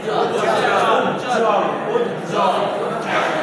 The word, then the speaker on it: উজ্জ্বল: এই যুক্তা করে উচ্চারণ হবে, বকলার উচ্চারণ হবে। এটা কি হবে? উজ্জ্বল, উজ্জ্বল।